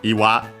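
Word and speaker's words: 岩: But the word is iwa, accent on the last syllable, rock, boulder.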